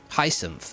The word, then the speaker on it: Hyacinth: Hyacinth, there you go.